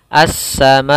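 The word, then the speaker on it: السَّمَاءِ: Cara membacanya as-samai 4 harokat. Tidak sampai kepada 5 harokat atau 6 harokat. 4 saja cukup.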